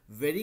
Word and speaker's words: very: हम सिर्फ प्रोनाउंसिएशन का बोल रहे हैं कि जो वेरी है ना, वेरी का प्रोनाउंसिएशन हम लोग वेरी व है व, ठीक है, उतना ही कोशिश करेंगे, ठीक है।